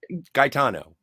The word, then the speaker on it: Gaetano: Gaetano. Like say Brian Boitano, but instead of B, it's a G. Gaetano.